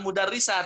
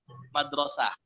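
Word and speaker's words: مدرسة: Ya, di sini yang benar bukan mudarrisah tapi madrasah.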